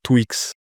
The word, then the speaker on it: TWKS: J'avais entendu d'ailleurs que ça ça il y en a qui prononcent Twix.